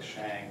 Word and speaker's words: Shang: are no hard A's no hard vowel sounds in Chinese so there are no Shang there's no Shang there's no Tang there's no Wang it's a it's a it's a soft a sound so we talk about